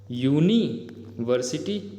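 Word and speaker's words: university: इसका प्रोनाउंसिएशन तो कुछ ऐसा हो रहा है ना, यूनिवर्सिटी, आगे जो भी है। तो यहाँ पे देखो एक कॉन्सोनेंट से स्टार्ट हो रहा है इसका प्रोनाउंसिएशन, तो अंग्रेज़ों को इस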